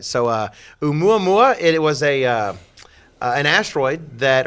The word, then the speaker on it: Oumuamua: It's just Oumuamua. It's a Hawaiian word. And since I love Hawaii, Hawaiian just comes naturally. It comes naturally to him, that's right. So Oumuamua, it was an asteroid